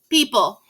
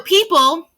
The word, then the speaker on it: people: It's people. If it's backwards, I'm sorry. So people is a important word because that E-O, you don't hear the O. The O is silent.